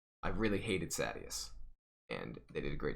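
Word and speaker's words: Sadeas: think after sadius who i called sadius the whole time another name that i was mispronouncing the whole time i was thinking you know like habeas corpus sadius but apparently it's sadius whatever sadist is a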